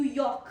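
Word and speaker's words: yolk: Then is York, just like New York, it's just like that, New York. So you can say York, it's a York.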